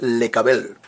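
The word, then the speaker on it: לקבל: El verbo recibir en hebreo se dice lecabel. Lecabel. Y escúcheme, lecabel se escribe con las letras lamet, cof, bet y lamet al final.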